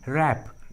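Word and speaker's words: wrap: के पहले होता है, जब भी किसी इंग्लिश वर्ड्स के एकदम शुरू में डब्ल्यू जो है वो आर के पहले होता है तो डब्ल्यू साइलेंट होता है, डब्ल्यू का उच्चारण नहीं करते।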